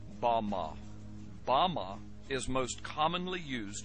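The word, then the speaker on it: במה: which Satan fell is strongs Hebrew word 116 pronounced Bama Bama is most commonly used to refer to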